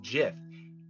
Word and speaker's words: GIF: goes on to say they are wrong it is a soft g pronounced gif end of story end quote but the